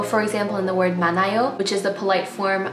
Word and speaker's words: 많아요: So the word 많아요, the hiet is not pronounced at all. it sounds like 많아요.